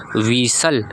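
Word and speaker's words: whistle: लिसन उसके बाद है आपका विसल। क्या है? विसल। टी आपका साइलेंट हो जाएगा।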